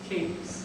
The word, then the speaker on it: Cadiz: Now, we all know, I think, that if you go to Cadiz in Spain, it's pronounced Cadiz. But when you get to this part of New York, down here, it's pronounced Cadiz.